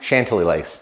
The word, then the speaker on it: Chantilly Lace: we went with chantilly lace that's how you pronounce it chantilly lace yeah we couldn't figure out how do you